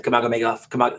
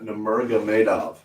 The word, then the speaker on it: Nurmagomedov: Kamagomedov. How do you say his last name? Tony, my guy in the chair. Nurmagomedov.